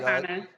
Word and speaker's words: Mayavana: Joining us right now is the co-founder and CEO of Mayavana, Candace Mitchell-Harris. First of all, am I pronouncing it correct? Yes, that's correct. All right. Mayavana.